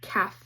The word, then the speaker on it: calf: LF says F, like in calf.